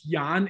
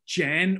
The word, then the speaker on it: Jan: They don't even know that you pronounce it Jan instead of Jen, or, you know.